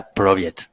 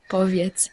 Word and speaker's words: Powiedz: Kinia Proviet. J'ai bien prononcé. Poviet.